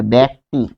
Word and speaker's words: ব্যক্তি: তাহলে একারান্ত উচ্চারণটা কিরকম হবে আমরা একটু দেখব। যেমন ব্যক্তি, ব্যক্তি, তাহলে এটা হবে ব্যক্তি।